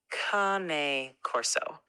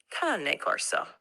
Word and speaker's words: Cane Corso: It's cane corso, not cane. It comes from the Italian word cane, which simply means dog. So it's pronounced cane. So yeah, cane corso.